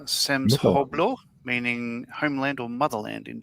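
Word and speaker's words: სამშობლო: The word on the side of the vehicle is pronounced Samshoblo, meaning homeland or motherland in Georgian.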